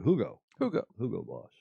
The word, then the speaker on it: Hugo Boss: i know you angles like to say hugo boss but having lived in germany for eight years and had hugo boss as a sponsor of the mclaren f1 team we all learned to pronounce it the way the germans do hugo hugo boss and speaking of f1